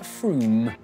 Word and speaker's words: Frome: it's not from f-r-o-m-e it should be blitheringly obvious it's pronounced froome hello welcome back today